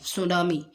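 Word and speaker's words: tsunami: टी इसमें silent है, सुनामी।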